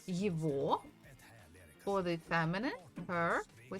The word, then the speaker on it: его: So we say это его. So we write the G, letter G, but we actually pronounce it as V.